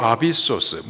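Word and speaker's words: ἄβυσσος: 무저갱, 헬라식 발음으로 아비소스, 문자적인 뜻은요, 끝없이 떨어지는 곳, 깊은 구렁입니다.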